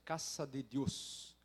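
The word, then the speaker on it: Casa de Dios: ministério da guatemala chamado casa de deus a pronúncia caça de deus e lá ô ô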